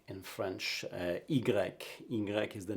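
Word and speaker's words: i grec: let's look at the letter e in french igrec ingrec is the name of it it's pronounced e but the name of the letter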